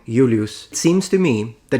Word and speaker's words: Julius: It'd be said as Julius. The J is like an I.